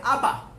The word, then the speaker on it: Abba: La palabra se pronuncia Ab en hebreo, y en arameo es Abba, y se escribe también